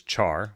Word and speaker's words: char: So some people say this as char, which is an English word to burn something. But it's pronounced care in character. So some people actually say care here.